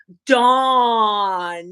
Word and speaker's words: Dawn: and she said April that's not how you say my name I saidwell how you say it then she said it's Dawn D I say D